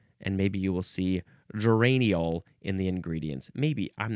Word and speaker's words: geraniol: It is geraniol. Geraniol. You could also say ol at the end.